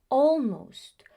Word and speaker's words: almost: In British English, when you find the letter A and L together, most of the times the pronunciation is that of all.